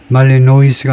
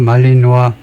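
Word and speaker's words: Malinois: 세 마리의 벨언 말리노 벨가 주로 불를 쓰니까 아마 자음 발음을 안 할 겁니다. 말리노이스가 아니고 말리노아 말리노아 정도일 텐데 그래서 독일 셰퍼는 아니다 이건데요.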